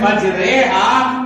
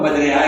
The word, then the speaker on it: مجریہا: اللہ مجریہا و مرساہا، پورے قرآن کریم میں اس جیسا تلفظ کہیں پہ بھی نہیں کیا، تو مجریہا زیر کے ساتھ، لیکن اس کا تلفظ ہے مجریہا، تو پوری دنیا کے